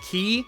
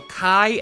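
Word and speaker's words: χ: Game number eight is actually a collection of titles known as the Key Saga, most commonly pronounced Ki, although Kai andQi are also acceptable, but people might look at you weird.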